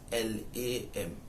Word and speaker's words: Lamin: Lamen is spelled as Lameng, Lamen. Historically, that is how it is known. But the colonial administrators do not recognize it as that. They spell it as Lamin. And until today, we still have it but spelled like that. But we do not pronounce it like that.